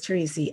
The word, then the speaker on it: Teresi: say your last name you got it teresi it is teresi it's theresa from